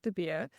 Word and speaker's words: De Beer: I've pretty much had everything, and I try and explain it as beer. You do the whole, you're chugging down a beer. I'm de Beer. And that's how it's spelled. It's B-E-R. So there's really no excuse for the Aussies to get it wrong. I feel like Aussies, I